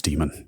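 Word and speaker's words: daemon: dictionary it just says it's an archaic form of demon okay but also like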